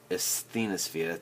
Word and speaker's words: asthenosphere: them here and it's called the asthenosphere asthenosphere that's how you say it um and show